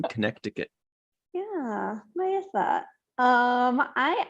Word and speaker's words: Connecticut: Marie out in Connecticut people don't pronounce the second C in Connecticut ah Maya thought um